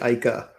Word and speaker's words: Äike: how to pronounce this but new european made ikey t may just be the best designed electric scooter in the world yeah so you got very close it's the icah so uh the icah t and ike apparently